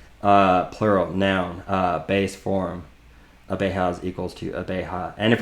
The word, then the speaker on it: abeja: Abejas equals to abeja. And if we were to go over to here, pronunciation notes, the J is pronounced like the H in hat, ha, abeja.